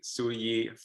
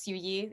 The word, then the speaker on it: Siu-yee: and i've you know the way that i like to say my name is yuyi you know like a spanish accent kind of but it is a